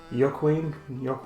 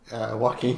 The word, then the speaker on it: Joaquin: Today we have a very special review for the movie The Joker, which stars Joaquin Phoenix. Joaquin Phoenix.